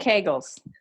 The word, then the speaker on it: Kegels: do kegels because those I'm not even saying it right no and it rhymes with bagels I know think kegels yeah but is that